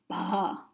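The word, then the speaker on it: བ: Anyway, in general, this letter is pronounced ba.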